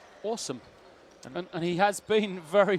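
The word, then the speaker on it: Assem: Lloyd because uh we've been calling him uh a Sam marai throughout you discovered that his name should be pronounced awesome and he has been very much that so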